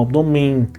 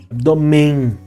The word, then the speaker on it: abdômen: Ganhando esse caráter nasalado muitas vezes a gente não pronuncia esse n a gente só pronuncia abdome e quando isso acontece